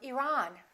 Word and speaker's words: Iran: at the next one did you say Iran or Iran it should be the second one he's from Iran he's from Iran let's look at the